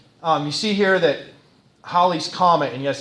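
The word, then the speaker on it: Halley: Um, you see here that Holly's Comet, and yes, it's not Haley.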